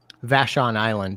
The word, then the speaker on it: Vashon Island: How do you say it? Vashon Island. Vashon Island, yeah.